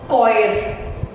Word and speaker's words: choir: Choir, group जो गाते हैं नीचे, choir. H silent है इसमें.